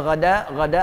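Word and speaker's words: غدا: Jadi kalau ada kalimat ghada, ingat bacanya ghada artinya bersegera.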